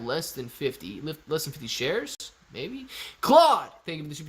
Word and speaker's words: Claude: Poplar coming straight in from Claude. I like it. It ain't that paper poplar. It's the real deal. Pronounced Clued. It's pronounced Claude, man. Come on now.